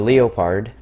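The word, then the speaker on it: Leopard: everywhere except for delete the leo pard that's how you correctly pronounce it the Leo part 1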